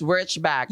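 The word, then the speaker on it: Wurtzbach: Wchback. 'Yun pala ang tamang pronunciation.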